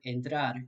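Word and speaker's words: entrar: you would in english so the word enter in english corresponds to the word endrar in spanish they both mean to enter however if you listen closely the vowel sound at the beginning of each word is slightly different in english in spanish next we have the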